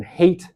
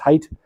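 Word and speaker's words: Haidt: close friend and collaborator Jonathan hate or sorry Jonathan height is pronounced height um I'll spell it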